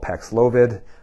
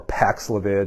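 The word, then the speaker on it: Paxlovid: now if you don't know uh it's called pexlovid or paxlavid depending on you know who who comes up with the pronunciation of it but this is a new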